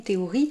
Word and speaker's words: théorie: donc, mais malgré tout, ça ne se prononce pas F, ça se prononce T.